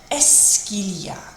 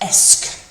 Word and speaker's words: est-ce qu'il y a: And it actually isn't too bad to pronounce. It's just esque. And when we've got the il y a coming next to it, it joins together and it sounds like est-ce qu'il y a.